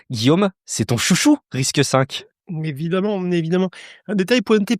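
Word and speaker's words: RISC-V: J'oserais dire d'avenir hein, c'est Risque 5. Ça s'écrit Risque V avec le 5 en chiffre romain. Guillaume, c'est ton chouchou. Risque 5 évidemment.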